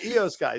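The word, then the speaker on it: IYO SKY: ayo skye come back gee he said it wrong again that's all right this guy eos guy sorry you're right uh we've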